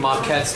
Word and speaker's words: maquette: actual vocabulary term uh maquette m-a-q-u-e-t-t-e with a little french accent on the end it's a french word that means a model